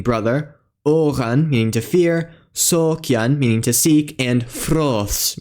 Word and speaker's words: sôkjan: It's found in words like brothar, meaning brother, oran, meaning to fear, sokyan, meaning to seek, and froths, meaning wise.